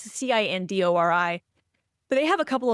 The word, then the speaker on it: Cindori: And I guess you pronounce the company's name Sindori. It's Cindori.